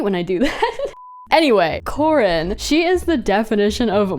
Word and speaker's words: Corin: you say her name is it Corin not Karin my life if is a lie hold on I have to fact check Corin Corin okay her name is Corin God I hate when